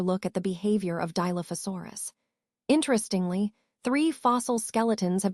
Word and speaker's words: Dilophosaurus: Now, moving on to the name, Dilophosaurus is pronounced Dilophosaurus, and it means two crested lizard.